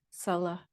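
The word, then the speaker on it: Salla: so Salah is sometimes Salah is the proper pronunciation in pi from the ancient language of poly and it's sometimes translated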